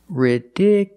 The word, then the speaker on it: ridiculous: The stress moved to the second syllable. Ridiculous. So, the last two syllables are short. It's not u, it's ridicul. You still have the e sound.